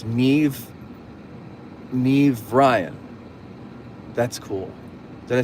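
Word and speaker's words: Niamh: Um, it being Irish, it's pronounced Nave. Nev. The AMH sounds like a V. Oh, so it's Gaelic. So, it's Nev.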